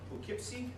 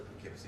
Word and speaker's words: Poughkeepsie: Also want to emphasize LAC15 is being held in Poughkeepsie, sort of like that it's pronounced, just outside of New York City, about an hour and a bit.